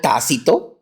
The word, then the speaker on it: Tácito: por favor se llamó con acento en la a Okay bien específico tácito y otro que se